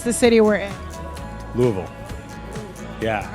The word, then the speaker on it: Louisville: Louisville. Yeah, right. But that's because I've been taught. I think like when I was raised, it was Louisville, but Louisville. They tell me that's the right way to say it.